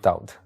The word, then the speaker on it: Daud: it was David just I changed the pronunciation David to doubt David and doubt is the same person yeah right it's a